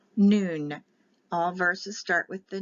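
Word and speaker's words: nun: and this is pronounced noon it's spelled n-u-n but it's n for the letter n and it's pronounced noon all verses start with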